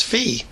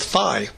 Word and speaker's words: phi: As a student, I always heard professors pronounce this as fee, but fraternities and sororities go with phi.